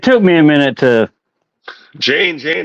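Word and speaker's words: Jeyne: Jane, it rhymes with Dane. Yeah, well, and that is the real first wife of people who yeah, the real wife. So yeah, that's a good point. Jane rhymes with Dane.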